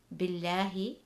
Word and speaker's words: Billahi: For the second word, Billahi, there is a KASRAH before the word Allah, which means the Lam will be read light.